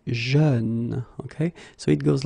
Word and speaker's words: jeune: Same thing, you don't say je, you say jeune, okay?